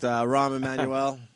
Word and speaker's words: Rahm Emanuel: same subject, Rahm Emanuel.